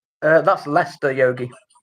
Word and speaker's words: Leicester: She says a city in England that I can't pronounce and has the biggest Hindu community in England. Uh that's Leicester Yogi. Lester.